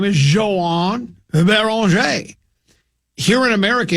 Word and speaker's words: Beringer: His name is Joan Baron. I'm not going to pronounce it Joan Behringer.